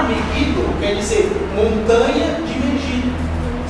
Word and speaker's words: Megiddo: E Megiddo, ou Megido, como se fala, é o nome de uma montanha que tem lá em Israel.